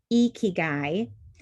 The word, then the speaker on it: ikigai: really love to start with this concept it's pronounced ikigai and it's a japanese concept as you know